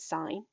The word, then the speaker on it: sine: over hypotenuse is called sine it looks like it says sin on your calculator but we do pronounce it sine adjacent over hypotenuse is